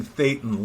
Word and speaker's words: thetan: moving up these operating thetan levels t-h-e-t-a-n fate and levels so it rhymes with Satan level yes it does but